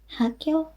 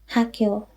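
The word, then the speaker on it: 학교: Okay, and then it's pronounced Hakyo. Now this becomes, because this rule, the tensification rule, that some sounds become tense or stronger in compounds or after certain consonants, and one of such is this, because once there is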